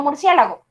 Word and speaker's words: murciélago: Sí, el golpe de voz recae aquí, en esta. Entonces, como de acuerdo con la clasificación me doy cuenta que el acento recae en esta sílaba, pues la regla me la facilitó y me dice, todo acento que recae en esta sílaba hace que la palabra lleve su tilde.